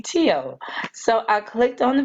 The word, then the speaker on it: TEOTW: o WT I'm like how do you pronounce that no I'm like who is that so now I know that to be tio so I clicked on